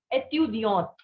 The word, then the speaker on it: étudiante: So its pronunciation is étudiant. And one with E is for the female student. So it is étudiante.